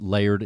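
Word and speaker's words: Lyrd: it has significance that it's pronounced layered interiors and it's spelled l-y-r-d how did that come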